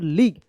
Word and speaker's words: league: जैसे Indian premiere लीग, IPL होता है ना, इंडियन प्रीमियर लीग, तो देखिएगा लीग में जो है ना यही वर्ड्स लगा रहता है, LEAGUE, लीग।